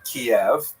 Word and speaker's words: Kiev: Uh but they centered around the city of cave. That's the Ukrainian pronunciation by the way that's favored today because of course Ukrainian is the dominant language in the country but it used to be called in English Kiev which is closer to the Russian pronunciation because Russia dominated much of this area in the modern era.